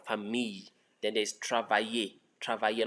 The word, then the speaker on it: famille: So just pronounce that LL as Y, famille.